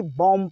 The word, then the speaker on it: bomb: अगर आप पढ़ते होंगे तो आज से बंद कर देना, ठीक है, BOMB, बॉम्ब नहीं बोलेंगे बल्कि BOMB में बॉम्ब पढ़ेंगे, आखिरी वाला B साइलेंट रहेगा, M के बाद B आए तो B साइलेंट।